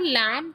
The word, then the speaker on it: lamb: लैंप का जब हम प्रोनंसिएशन करते हैं तो बी साइलेंट होता है। सो लैं राइम्स विद फ्लैम।